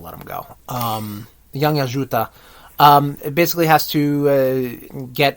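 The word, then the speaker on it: Yautja: I think that they it follows a young predator, a young Yajuta. We were talking about this. The pronunciation for the alien species of predator, Yajuta. I think they said Yajuta.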